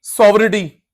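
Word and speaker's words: sovereignty: हो रहा है कंट्री सोवटी जी साइलेंट होता है पुट एट रिस्क जब ये बहुत इंटरफेयर करते हैं।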